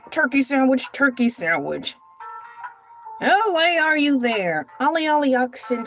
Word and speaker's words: Elay: My name is LA, pronounced LA like the city.